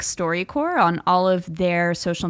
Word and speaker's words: StoryCorps: They are at StoryCorps, and that's spelled CORPS. Indeed. Not CORE. They're like a corporation of stories. Yes. StoryCorps. Corpse. As I like to refer to it. But not like a dead story corpse.